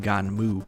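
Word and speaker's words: Gunnm: gun it spelled GU and nm but it's pronounced God Moo and it's pretty interesting the reason he came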